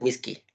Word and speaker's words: whiskey: Termina con EY, ¿no? Whiskey. La pronunciación es whisky.